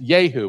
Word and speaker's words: Jehu: Now, Jehu in Hebrew would be pronounced Yehu.